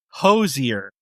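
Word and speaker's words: Hozier: And it's Hosier. That is correct. That is the way to pronounce it. Very, very good. Yeah, I looked up multiple videos. Okay. No, perfect. So, Hosier, very, very successful Irish folk soul and blues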